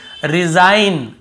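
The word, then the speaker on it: resign: र ठीक है केवल डिजाइन यहां पर भी रिजाइन रिजाइन यहां पर रिजाइन ऐसे नहीं पढ़ रहे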